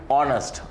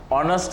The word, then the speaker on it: honest: Not everyone is fair or honest. Honest අපි දන්නවා HONEST. ඒතර ඒක honest නෙමෙයි අපි pronounce කරන්නේ honest. Right?